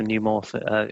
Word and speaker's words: neumorphic: How do you say it? You know how to say it, Sam. This kind of the neumorphic. The morphic, that's the one. Yeah, it's the neumorphic or neumorphism.